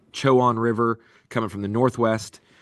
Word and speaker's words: Chowan: The northwest of our playing field is the Chowan River. And just a heads up, these are the correct ways to pronounce it.